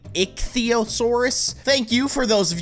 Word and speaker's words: Ichthyosaurus: First of all, this thing I was calling the Ichthyosaurus, which I think is actually a pretty cool name. I was saying it wrong, however, it's actually Ichthyosaurus.